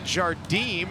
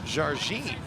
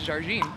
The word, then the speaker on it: Jardim: me it's appropriately pronounced Jardim. Correct. She is from Brazil, and the correct pronunciation, often improperly done by many people, is Jardim.